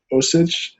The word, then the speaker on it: Osich: matter it's true it's called ostrich john the guy's name is like osich and the comment says it's spelled like ostrich because we know even